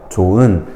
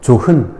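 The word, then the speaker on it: 좋은: 너, 조은, 싸이다 이런 게 이제 예문으로 나왔죠. 이때 너허, 조흔, 싸히다 이렇게 발음하면 틀린 발음이야. 연음하면 틀린 발음이고 탈락해야 맞는 발음입니다.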